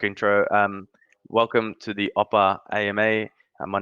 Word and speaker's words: OPPA: yourselves and then um we'll work into what oppa is um is all about am i saying